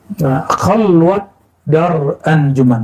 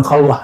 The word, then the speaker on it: Khalwat dar anjuman: Khalwat dar anjuman, bukan khalwah ya.